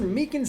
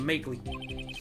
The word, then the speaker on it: Meekins: Actually, Officer Meekins at the detention center told us. That poor little doggy. Poor guy kept getting his name wrong. Keep calling him Makeley.